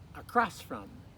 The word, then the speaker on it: across: Remember the accents on that second syllable, so across from.